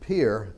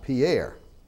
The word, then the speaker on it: Pierre: And we pronounce it Pierre and not Pierre.